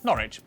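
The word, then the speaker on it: Norwich: stir Lester wer gluster w at the start of the final syllable is silent norch Beric subk e r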